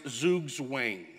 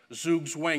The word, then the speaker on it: Zugzwang: Now, if you speak German, you'll know that I'm speaking, pronouncing it absolutely wrong, but since it is now in the dictionary and it's now an English word, Zugzwang, it's appropriate for us to say that.